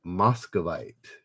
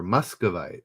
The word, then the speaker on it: Muscovite: It is Moscovite. Not quite TRK. Huck. Moscovite, but it's spelled with or Muscovite. It's spelled with a U, not an O. At least that's the way it's anglicized.